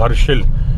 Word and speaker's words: हर्षिल: मेरे साथ हुआ था हरसिल में हरसिल यानी की गंगोत्री से पहले आता है हर्षिल हिंदी में बोलते हैं खुशी हर्ष हर्ष लेकिन स्पेलिंग जब इंग्लिश में लिखने हैं बहुत ही खूबसूरत